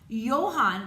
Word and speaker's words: Johann: Johann, that's the way you pronounce that name, Johann Bach, a devout Christian, was also a famous composer.